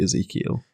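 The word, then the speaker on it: Ezekyle: say that Ezekiel yeah it's just spelled weird isn't it like I guess yeah but it's definitely Ezekiel he was always going to fall to chaos with a name spelled like that yeah Ezekiel abdon or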